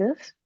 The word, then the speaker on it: œufs: we would say les œufs. Even though Okay. there's an F, we don't pronounce the F. So for example, we have un œuf, because it's singular, we hear the F, but for the plural,